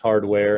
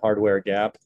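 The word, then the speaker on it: Hardwar Gap: It's spelled Hard War, but it's pronounced Hardware in Jamaica, Hardware Gap.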